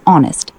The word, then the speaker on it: honest: Honest, silent H, pronounced honest.